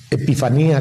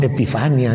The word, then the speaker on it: epifanía: a conocer presentarse también puede ser epifanía con acento en la última y no epifanía epifania es una señora